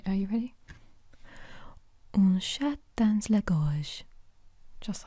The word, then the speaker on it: un chat dans la gorge: Un chat dans la gorge.